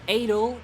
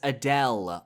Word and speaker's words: Adel: At number 5, we have Adel, Baron of Night. No, I will not be pronouncing it as Adele.